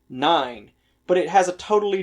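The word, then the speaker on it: nein: and before ten and there is a word in german that is pronounced the exact same way nine but it has a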